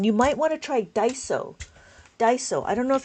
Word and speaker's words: Daiso: You if you want to to if you wanted the 13 column one, you might want to try Daiso.